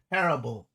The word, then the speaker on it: Parable: Anytime you don't know how to say the word, just remembering that Kyra tried to make fun of you. Call you par boy, but add an L instead.